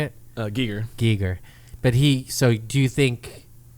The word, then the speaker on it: Giger: And then Geiger, how do you say it? Giger.